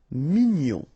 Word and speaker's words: mignon: Here in that case, G-N-O-N, gnon. Mignon.